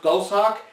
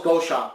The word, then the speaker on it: Goshawk: apologize um the character the name is actually pronounced ghost Hawk based on one of the cards in the back or whatever but um I always thought it was go shop just due to the spelling I always thought it